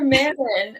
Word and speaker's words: Manon: I know there's something else I mispronounced. I feel like it was like Tesserin. No, not another Manon.